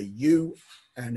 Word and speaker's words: ua: Yep, because the H wasn't pronounced. It was ua.